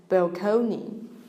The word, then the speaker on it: balcony: And he says, as if contemplate were not bad enough, balcony makes me sick. The word is borrowed from Italian and it was pronounced balcony.